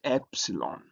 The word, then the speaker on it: epsilon: And then we have the next letter is epsilon. Epsilon. And epsilon is written. It looks like E but not really E but it has a E sound like E in Matt and is transliterated as E.